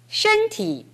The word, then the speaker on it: 身体: 身体怎么样? 身体怎么样? 네, 이 발음을 해봅시다. 身体. 身体. 身体. 身体. 일성을 아주 높게 잡아보십시오.